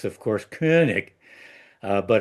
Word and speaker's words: Koenig: correctly, it's of course Koenig. But if you're going to mispronounce it, which I do anyway, I prefer Koenig.